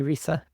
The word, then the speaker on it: RISA: That's how we pronounce it. I've heard many different pronunciations, but we say RISA.